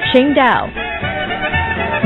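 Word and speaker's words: Tsingtao: While it's spelled differently, it's pronounced the same way the city is pronounced, Qingdao.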